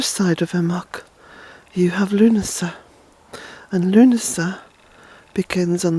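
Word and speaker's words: Lughnasadh: first be Altoona August the first Luna sir which is spelled by the way L u G H as in the ancient God Lou NASA and a s a D itch Luna sir so Luna sir then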